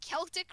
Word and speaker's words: Celtic: from even though C even though C's are even in Latin languages C's with E and I after them are pronounced soft, but because that isn't that way in Celtic languages and they decided to spell it with a C instead of a K because history shenanigans it makes it so that it's pronounced different from the written things.